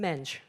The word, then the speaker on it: Mendes: love remarking that susan mendes when i go and speak at schools the portuguese pronounce him susan menge right so at my